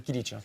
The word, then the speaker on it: Kilic: J'ai bien prononcé Kilic? Ouais, c'est comme ça va, à la turque. Ouais, c'est ça. Bon, à la française, c'est Kilic. Exact. Bon, merci en tout cas